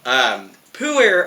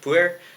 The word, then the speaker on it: Pu'er: language a little bit, but Pu'er, it's Pu, usually has a comma, and then er, Pu'er, Pu'er, Pu'er. Your guess is as good as mine. And Pu'er itself comes in different